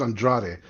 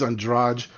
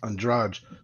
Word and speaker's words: Andrade: for saying Andrade because where I'm from that last name's Andrade uh Pro us boxer is Andre and then she's ondrage same spelling same last name but different ways of pronouncing it names are hard but